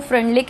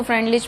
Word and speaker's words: Freundlich: Study किया था वो फ्रेंडलिक ने किया था। ठीक है, कई लोग इसको फ्रेंडलिच भी बोलते हैं, आप अपनी कन्वीनियंस के अकॉर्डिंग देख लेना आप कैसा प्रोनाउंस करना चाहते हैं।